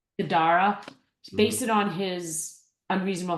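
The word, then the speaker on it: Guidara: Gadara. Gadara.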